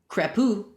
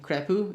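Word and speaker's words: Crepeau: Crapu, I think that's how you say his name, Crapu, it's like French, chose these wins that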